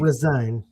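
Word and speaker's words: re-sign: Not resign. No. Resign. Yeah. You got to put the stress on the right syllable.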